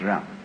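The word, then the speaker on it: jen: In Confucius philosophy, the fundamental virtue of a human being is called Ren, spelled J-E-N for reasons best known to Chinese scholars. I don't know what they are, but it's pronounced Ren.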